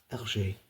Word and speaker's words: Hergé: And if you say the letters RG in French, it's pronounced RG. Hergé.